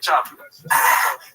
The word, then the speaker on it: Schaub: Brandon Chop.